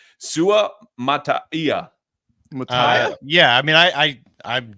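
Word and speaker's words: Suamataia: No, Kingsley, I believe it's Sumataya. Sumataya is how I've been pronouncing it.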